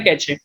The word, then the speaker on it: cache: Okay चलो, let's start with कैचे memory. Pronounced as cache, the cache memory is a special high-speed storage mechanism.